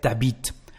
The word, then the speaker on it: t'habites: So instead of saying tu habites, you live, we will say t'habites.